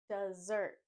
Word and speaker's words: desert: zert zert desert desert instead of saying Dez we say du desert desert I love to eat dessert for Desert we don't say desert again just like dessert we drop the S sound and add a z sound desert in this word we put the stress on the first syllable Dez Dez desert desert